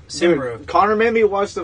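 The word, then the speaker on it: Cymru: Krimu. That's not right. Simru.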